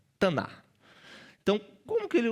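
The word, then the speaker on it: תנ״ך: Mas eles não pronunciam esse K no final. E como você tá aprendendo muito hebraico aqui nessa aula, você também não vai pronunciar, né? Taná.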